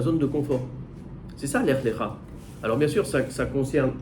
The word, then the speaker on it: Lech Lecha: D'abord, Lech Lecha, si vous regardez bien, on le prononce différemment, on dit Lech Lecha, mais ça s'écrit de la même manière.